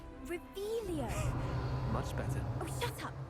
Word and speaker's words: Revelio: Rebellion. Saying it wrong. Ugh, Revelio.